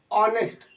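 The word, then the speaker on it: honest: तो एन ऑनेस्ट man always follow the path of या द वे the path of तो क्योंकि यहां पर एन की शुरू एच से उच्चारण क्या हो रहा है? आनेस्ट यहां पे एन एन ऑनेस्ट man always follows the path of पहला पॉइंट क्या है?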